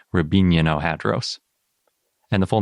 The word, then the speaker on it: Riabininohadros: But I looked up the Russian pronunciation, and I'm pretty sure it's more like Rabino-Hadros.